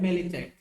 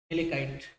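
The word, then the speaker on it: malachite: Copper की दूसरी जो और होती है उसको बोलते हैं मेलेचाइट। मेलेकाइट भी बोलते हैं, मेलेचाइट या मेलेकाइट, जो प्रोनाउंसिएट करना चाहते हैं आप कर लीजिए।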